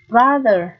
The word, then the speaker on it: brother: âm â này rồi Tiếp này brother âm á Đúng không nào chữ au đây được phát âm là âm á Như vậy chúng ta lại thên âm là dấu mũ và từ cuối cùng home cũng là âm â Đó cũng là âm â nguyên âm đôi như vậy trong bốn từ này thì chỉ có từ brother một mình nó là âm á Còn ba cái kia